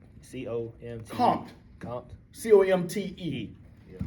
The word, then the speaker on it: Comte: Auguste Comte.